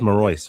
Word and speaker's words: Marois: I love it when the pronunciation is like the easier version, because Patrick was trying to be fancy, make it sound like the original language. Like, no, it's just Marois.